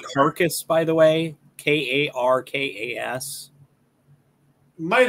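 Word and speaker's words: Karkas: one i'm thinking of i always thought it was krakus but it could be carcass it is k-a-r-k-a-s so carcass sure he could be krakus if you disregard spelling conventions and pronunciation conventions yeah andrew makes a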